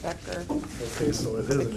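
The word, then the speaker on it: Becher: It is Becker Becker says it's a K actually it's an H. It is on the back but they pronounce it Becker.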